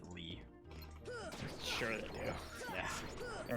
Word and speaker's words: Lea: It's spelled like that, but they pronounce it Lee.